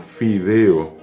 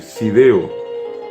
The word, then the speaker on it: fideo: Palabras como fideo, a la gente que habla guaraní normalmente les resulta difícil pronunciar, y en lugar de la F sustituye por la S. Entonces dice sideo, no dice fiambre, dice siambre.